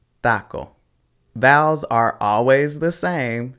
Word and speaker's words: taco: sound just like that so it wouldn't be taco it's taco vowels are always the